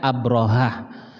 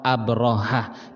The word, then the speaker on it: Abrahah: Aries sama abrohah Alkitab karena kita nggak ada huruf ro ya maka kita bacanya Abrahah aslinya Abrahah dengan hak ro abrohah bin Sabah ya diutus